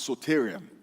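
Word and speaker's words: σωτήριον: our salvation comes from a greek word that is pronounced as sotarium i know what suterian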